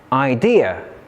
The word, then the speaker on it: idea: There are some exceptions where the stress of a noun or an adjective is placed on the second syllable. For example, the noun parade, parade, and idea. Idea.